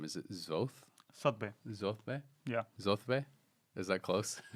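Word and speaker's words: Zothve: Zothbe? Yeah. Zothbe? Is that close? You're like Sotbe. Zothbe. It's Sotbe.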